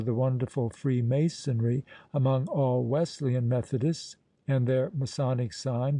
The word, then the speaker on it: Wesleyan: of their denominational name if a man pronounces the word Wesleyan as if the S were a Z and puts the accent upon the second syllable one may safely conclude